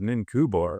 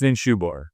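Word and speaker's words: Ninshubur: But I remember the first time hearing, who the hell is Ninkubor or Ninkubura? Anyway, but it's Ninshubor. It's because that C is, anyway.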